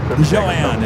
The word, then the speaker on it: Joanne: Joanne is the correct way to say your name. I noticed that when I watched the replay of the Tuesday night show. I was like, it's not Jody, it's Joanne.